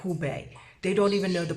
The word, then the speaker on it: Hubei: I had an NBC person call this Huawei, not Hubei.